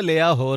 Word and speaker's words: لاہور: تو میں شروع میں لاہور کو لاہور کہتا تھا، تو میرے اسٹیشن ڈائریکٹر نے بولا بھائی لاہور کیا ہوتا ہے؟ بھائی لاہور ہوتا ہے. لاہور بھی ہوتا ہے، لیا ہور بھی ہوتا ہے.